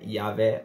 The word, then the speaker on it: Javé: yavé com y ou Javé com J né e yavé com i ou Javé com J que é a pronúncia mais próxima do original né yahvé ou yahvé o tetagam vem do